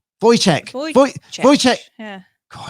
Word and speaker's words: Wojciech: Wojciech.